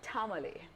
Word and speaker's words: Tamale: And to my immediate left, we have Tamale. That is how we pronounce it.